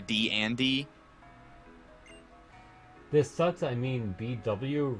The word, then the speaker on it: D&D: I guess it's because I literally pronounce it D-N-D as opposed to D-and-D.